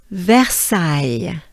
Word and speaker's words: Versailles: let's do it together take a good breath versailles very good because i know this one you